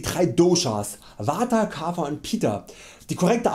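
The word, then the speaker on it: पित्त: Doshas, Vata, Kapha und Pitta. Die korrekte Aussprache wäre Vata, Kapha und Pitta. Aber ja, ich nenne sie einfach weiter Vata, Kapha und Pitta, weil es mir einfach angenehmer über die Lippen geht und an der Bedeutung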